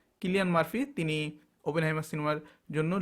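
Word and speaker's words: Cillian Murphy: best অভিনেতা কিলিয়ান মার্ফি কেউ চিলিয়ান মার্ফিও উচ্চারণ করেন তিনার নাম কিলিয়ান মার্ফি তিনি ওপেন হাইমা সিনেমার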